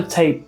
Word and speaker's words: TAIP: to be talking about tape by baby audio and it's spelled t-a-i-p and that's because it's artificial intelligence-based so it's a bit different than the other tape plug-ins that you may